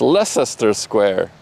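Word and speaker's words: Leicester Square: Leester the square. It's lesser square.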